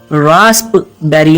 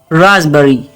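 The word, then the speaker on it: raspberry: साथ कहीं टर्मरिक दोस्तों इस वर्ड में पी साइलेंट है इसको हम रासप बैरी नहीं कहेंगे रास्पबेरी इसकी गलत प्रोनंसिएशन है इसकी सही प्रोनंसिएशन है राबरी राबरी राबरी तो दोस्तों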